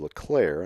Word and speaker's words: Leclerc: Leclerc. The French way to pronounce it is Leclerc, and I've used that a number of times. I'm going to go with Leclerc from here on out.